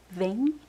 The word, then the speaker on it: vem: We don't pronounce the m at the end of words. We say vain. Instead of them, right? Vin.